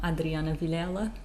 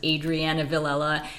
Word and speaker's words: Adriana Villela: I am Adriana villela does it kind of freak you out when I use like my Portuguese pronunciation for my name who it is yeah because I'm not used to you saying it that way I'm trying to lean into the Portuguese pronunciation of my name because like for so many years I've used the anglicized version of my name which is Adriana villella and also like I